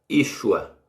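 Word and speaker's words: ישוע: entendendo esse nome aqui sem sinal Mossoró se pronuncia Yeshua aliás é Yeshua e com sinal massorético é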